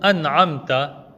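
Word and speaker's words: أنعمت: Il faut juste bien veiller à prononcer le noun avec un soukoun lorsqu'on lit le mot an'amta sans faire de qalqala sur le noun comme on l'entend fréquemment.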